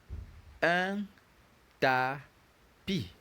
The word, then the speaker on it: un tapis: The next word is pronounced un tapis.